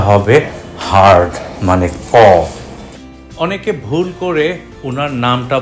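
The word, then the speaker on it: Monica: নামের প্রথম অংশ মনিকা, এখানে সি এর উচ্চারণ ক।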